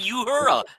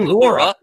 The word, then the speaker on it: Uhura: wrong all these years it's Lieutenant Uhura not Laura right Laura I I've